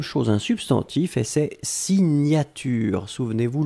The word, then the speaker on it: signature: Deuxième chose, un substantif et c'est signature. Souvenez-vous, le GN, la prononciation c'est gne gne gne gne gne.